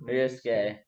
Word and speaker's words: Ryosuke: Ryosuke.